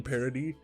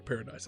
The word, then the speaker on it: Paradis: Because they are declaring war on Paradis Island. I forget, it's pronounced Paradis or Paradise. I think it's Paradis.